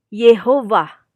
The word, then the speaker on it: Yehuwa: pada suku kata pertama Jadi mereka mengganti Yahya ini menjadi E menjadi Shafa Jadi dibacanya y ya Nah sehingga ketika dibaca ini menjadi Yehuwa namun penyebutannya tetap adonai atau